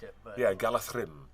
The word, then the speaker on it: Galadriel: And Do you know that in Tolkien, a DH consonant sound gets a TH pronunciation?